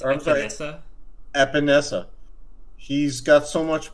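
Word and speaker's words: Epenesa: I think it's Epinesa.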